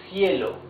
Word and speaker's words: cielo: You see, it's the soft sound. Cielo.